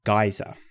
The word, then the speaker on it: geyser: about here is a geyser or geizer depending on how you pronounce this thing now geyser is